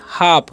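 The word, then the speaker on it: half: हम काम है ना यहां पर भी एल साइलेंट है यानी कि एल रहता है तो एल जो है साइलेंट हो जाता है ए का उच्चारण आ हो जाता है ठीक है और इसे पढ़ेंगे हम हाफ क्या पढ़ेंगे हाफ इसे पढ़ेंगे काफ क्या पढ़ेंगे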